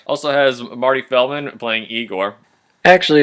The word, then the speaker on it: Igor: victor von frankenstein also has marty feldman playing igor actually it's pronounced igor right sorry i gore and in case you're wondering yes those are